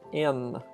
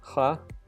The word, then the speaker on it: Н: Obviously, it's not an H, but it is an N. So the sound it makes is N, like in the word noon. Yeah. So this one is just N. Again, nothing more to add. Just learn it like that. Remember, it's a false friend, obviously. Don't fall for it. Don't read it as ha.